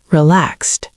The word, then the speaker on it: relaxed: Remember that T sound at the end of relaxed. I feel relaxed.